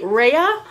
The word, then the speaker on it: Rheia: box opening of a minifee Raya I believe it's how you say it rh e IA she was a Christmas